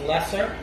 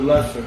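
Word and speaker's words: Leasor: The Seawolves is a 1980 war film by Panavision, based on the book Boarding Party by James Lesser. It's spelled Lesor, but the British pronounce it Lesser.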